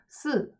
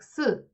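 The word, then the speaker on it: 四: the number 4, or in Chinese how they pronounce it, it's si, like si, and it can be interpreted as the word death, which is like si in Chinese.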